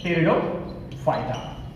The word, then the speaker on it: Pteridophyta: Division, third division बोलेंगे हम यहाँ पे टेरिडोफाइटा, P silent here, टेरिडोफाइटा।